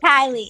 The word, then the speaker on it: Kylie: Yeah, Kylie and Enrique, not Enrique and not Keely.